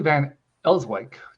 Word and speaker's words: Van Elswyk: So we're welcoming Julie Van Elswyk. Did I pronounce that right?